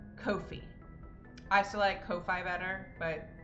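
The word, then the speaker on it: Ko-fi: Aunt I looked up the pronunciation today is pronounced Kofi I select Kofi better but that's not their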